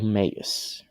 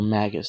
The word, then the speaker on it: Magus: Pentagonal Magus. Or Magus, depending on what your accent is or where you're from, that's how you pronounce it.